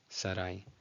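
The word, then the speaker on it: שָׂרַי: So this actually served as a diphthong. It's not, in Spanish, it's Sarai as two separate syllables. In Hebrew, it's just Sarai, Sarai.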